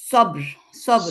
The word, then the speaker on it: صبر: মানে বাতে কাজটা আছে, সবর। সবর। আবার ওই যে ব আর র, বতে বেশি এমফাসাইজ হবে, রটা খুবই কমে যাবে, সবর, সবর, সবর।